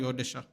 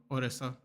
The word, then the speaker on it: Odisha: it right Ora sorry odisha I have to get used to that I'm so used to saying orisa which I know is how you say it in English but I'm trying the